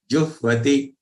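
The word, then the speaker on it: जुह्वति: Yajnam, yajnam, yajnai vopa, yajnai vopa, juhvati, juhvati. So after ju, there is half ha joined with va. So first ha sound will come and then va.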